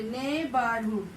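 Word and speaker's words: neighbourhood: GH का कभी कभी नहीं, मैक्सिमम केसेस में GH का प्रोनाउंसिएशन होते नहीं. देखिए ने बोलते, ने बारहुड.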